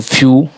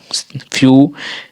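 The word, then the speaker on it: few: बाद अगर ई डब्ल्यू आता है तो उसका उच्चारण उ हो जाता है। जैसे कि एफ ई डब्ल्यू फ्यू फ्यू न्यू न्यू ड्यू म्यू फ्यू।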